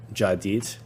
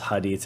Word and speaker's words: Hadit: The letter H of hadit is vocalized as a J. Thus uh jadeit. This explanation is given because in Spanish the h is silent. English speakers may pronounce hadit as written. The hadith with the h as written.